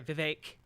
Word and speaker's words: Vivek: like so uh sorry Vivek rhymes with cake see ya on the